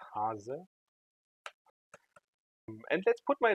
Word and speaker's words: Haase: My last name is actually pronounced Hase.